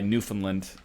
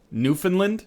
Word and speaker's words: Newfoundland: Newfoundland? Really? That's how we pronounce it up here. We say Newfoundland. We don't say Newfoundland. I've never heard it pronounced Newfoundland. Yeah, exactly. We don't say Newfoundland here.